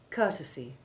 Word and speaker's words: courtesy: carefully now journey adjourn courtesy courteous discourteous scourge now you repeat those words and note how the ou4 sound of court changes to ou 10 in courtesy and courteous listen to this next